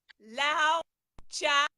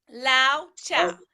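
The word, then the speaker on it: Laozi: And this is by Lao Cha. I pronounce it. It's actually spelled LaoTzu. Lao Cha. It's Chinese. That is his name.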